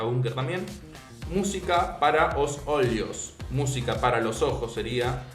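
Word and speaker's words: olhos: también música para os olios música para los ojos sería se escribe música para os o olos o L h o s que sería como ojos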